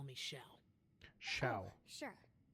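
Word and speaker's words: Xiao: formal just call me Sha Sha sure I think I've been pronouncing it wrong I said xia a senseless Bia I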